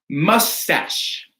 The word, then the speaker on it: mustache: Cachet, chemise, mustache, right? So these aren't pronounced with a CH or a K, they're an SH.